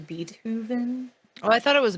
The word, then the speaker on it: Beethoven: though because there's some very interesting tidb it's pronounced beatoven Oh I thought it was be oven Oh I thought it was bethoven so anyway Beethoven okay as was said in